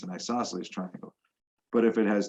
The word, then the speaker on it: isosceles: of them an isosceles triangle this word is pronounced isosceles has at least two congruent sides an isosceles